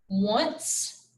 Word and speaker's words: once: those words and remember they're pronounced like the w but they're spelled with an o all right all right